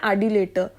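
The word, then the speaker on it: adulator: इसका जो सही आंसर है, मैंने उसको गलत प्रोनाउंस कर दिया, बी ऑप्शन है एडिलेटर। मैंने इसको अडल्टर पढ़ लिया।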